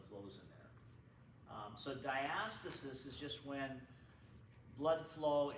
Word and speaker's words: diastasis: is called diastasis okay I used to pronounce it diastasis but I looked in the textbook and they say it's diastasis okay okay uh diastasis